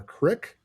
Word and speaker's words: creek: Storley, the athletic or longtime basketball coach there, told us back in 2015, I guess because of the creek or crick, depending on how you want to pronounce it, that flows through town.